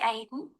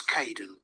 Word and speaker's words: Kaeden: Hi, Aidan. It's Caden. I'm so sorry. Oh, don't worry. People often get my name wrong.